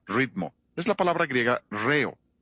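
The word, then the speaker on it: ῥέω: Es la palabra griega reo. R h e o. La H es el acento en griego, por eso acentuamos la primera sílaba de la palabra ritmo.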